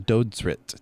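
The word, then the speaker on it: Dödsrit: It was Dodrit. D O with two dots. Omlot. Okay. D O D S R I T.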